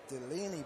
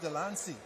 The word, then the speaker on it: Delancey: this she passed it as Delaney but he's actually Delancey Delancey okay so he